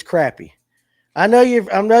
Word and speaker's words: crappie: Now, now listen, it's crappy. I know you I know you're from Mississippi and all that and you guys all say it wrong once you get outside of Georgia. It's crappy.